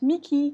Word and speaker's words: Mickey: Alors retenez d'ailleurs qu'en anglais, il se prononce Mickey, comme tout ce qui se finit par EY, comme par exemple Ronald Weasley in Harry Potter, ou Whitney Houston, Whitney Houston, Whitney. Okay, donc tout ce qui se finit par E, Y dans les noms, ça se prononce I.